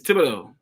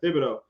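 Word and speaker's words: Thibodeaux: It's Thibodeau. There you go. Thibodeau.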